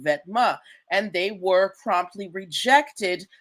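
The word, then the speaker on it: Vetements: Uh, if you didn't know, Vetma Vetma, it's okay. The word is pronounced Vetma.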